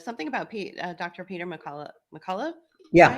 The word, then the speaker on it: McCullough: Peter McCullough. Yeah. Right? That's how you pronounce it.